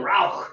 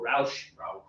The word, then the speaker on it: Rauch: And then Rauch or Rauch. How would you say? R-O-U-C-H. We're in the United States. I'd probably say Rauch. Rauch. Okay, Rauch it is. If we were in Berlin, we might say Rauch as well.